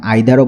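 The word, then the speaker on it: either: ইদার নিদার ওয়ান অ্যানাদার এখানে আইদারও বলা যায় নাইদারও বলা যায় এটা দুইটাই এক্সেন্ট বা প্রোনাউন্সিয়েশন কারেক্ট ইদারও বলা যায় আইদারও বলা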